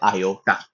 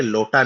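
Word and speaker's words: iota: उसके बाद आता है आयोटा ध्यान रख रखिएगा। ये लोटा नहीं आयोटा है।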